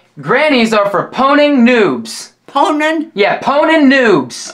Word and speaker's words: pwning: another one today okay it's uh it's called poning Pony poning spell it for me p o w n i n g poning poning yeah p and it means like uh